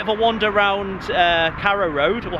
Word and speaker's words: Carrow Road: a wander around uh Caro Road or how how do you say Caro Road car carad as uh the people of Norfolk might say according to Gaz but